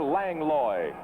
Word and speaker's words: Langlois: ring he's meeting with pierre lang loy lang loy in the white trunks langlois uh prefers that pronunciation of his name now most of the